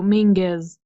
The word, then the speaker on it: Menzies: oh because it's it it's a Scottish or Gaelic Highland Scottish clan pronounced yeah Mingus rhymes with sing sing is so Mingus so it's not you're